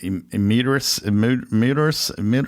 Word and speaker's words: emeritus: I call myself wine enthusiast emeritus.